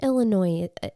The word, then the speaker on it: Illinois: So then the Southern Illinois, is it Southern Illinoisian? Yeah, I mean, when you say Illinois, the S is silent, but when you say it like that, I want to say it is.